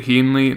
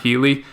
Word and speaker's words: Heaney: It's Andrew Heaney, not Healy.